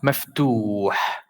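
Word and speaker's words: مفتوح: So here we have, in this word, we have the ta with dhamma, but we have waw after it. So it will be a longer dhamma. So this will be pronounced maftuh, maftuh, maftuh. So the dhamma went a little longer because there is an elongation here, or you can call it a long vowel.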